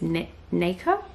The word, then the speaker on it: nacre: Okay, I just looked it up and the way you say it is nacre, so that's how I'll say it from now on.